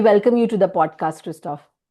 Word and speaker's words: Christoph: I hope I have pronounced your name correctly. Christoph Perfect.